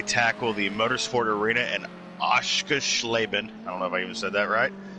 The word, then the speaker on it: Oschersleben: It's Oschersleben. I think you said Schleben.